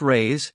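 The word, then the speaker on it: reis: The Portuguese pennies or ree pronounced rays are predigious.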